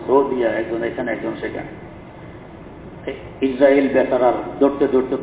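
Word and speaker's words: عزرائيل: আমরা আজরাইল বলি, বলতে সহজ, আসলে সহি হইল ইসরাঈল।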